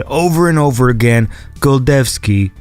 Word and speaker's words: Golczewski: It is Golczewski. like ch. It's a ch, a ch sound. So it's Wojciech Golczewski, like that.